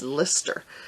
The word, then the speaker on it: Leicester: I always say Leicester because it has an E in it. Down here we would pronounce it Leicester, but you all have told me it's Lister.